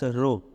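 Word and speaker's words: rho: to this is spelled this is pronounced as row okay row now resistiv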